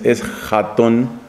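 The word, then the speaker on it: ἔσχατον: número 24 y 25 la palabra griega es Jon con esa J profunda que saben pronunciar bien los árabes y muchos españoles es jón significa último o lo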